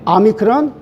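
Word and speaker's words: ὄμικρον: 에이타, 세이타, 이오다, 가파, 람다, 니, 크시, 아미크론. 자, 오미크론이라고 되어 있는데 저는 아미크론으로 읽어요.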